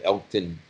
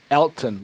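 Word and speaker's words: Elgton: That Elkton, am I saying his name right? Elkton Jenkins? Elton, like Elton John. Elton, okay. Oh, G is silent.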